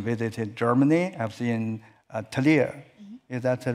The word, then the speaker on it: Trier: I was in Trier. Is that the right pronunciation for the Trier? Yeah. Trier, the most city, ancient city, but it was also the hometown of Karl Marx.